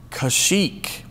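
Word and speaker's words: Kashyyyk: you spell this correctly the correct answer is kashik k a s h y y y k that's right three y's in a row kashik that's how you spell it and that's what it's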